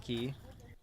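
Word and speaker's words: Cay: place called Compass key it's spelled c-a-y but it's pronounced key and you can swim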